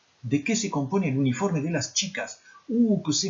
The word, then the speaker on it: uniforme: ¿De qué se compone el uniforme? Pas de E muet en espagnol.